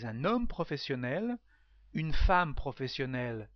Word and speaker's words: professionnelle: Professionnel with exactly the same pronunciation but two le is the feminine form. So a professional man is un homme professionnel. Une femme professionnelle, not very difficult to understand what is it.